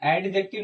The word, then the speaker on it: adjective: नहीं होता है ये एडजेक्टिव नहीं होता इसमें डी साइलेंट होता है इसको पढ़ते हैं क्या